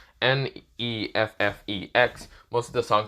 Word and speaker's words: Neffex: He's hearing the song from mostly Netflix, the creator, mostly that's how you say it, Neffex, mostly the song called Go, with the quotation mark in the end, but yeah.